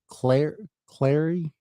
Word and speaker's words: Clary: Clary. I said it wrong the first time.